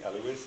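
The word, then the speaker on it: Elewys: Okay, one of the resources I want everyone to be aware of, there is a lovely Scadian, the Honorable Lady Eloise of Finchenfield. That is spelled E-L-E-W-Y-S.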